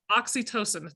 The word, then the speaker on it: oxytocin: We have an adventure for the hug drug that you talked about, the oxytocin.